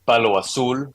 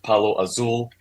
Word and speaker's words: palo azul: In Spanish, they say palo azul, which is a little different, but in English, I usually just call it palo azul.